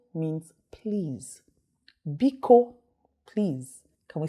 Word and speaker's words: biko: famous in ibu is be ko magic word biko means please vico please can we say that together you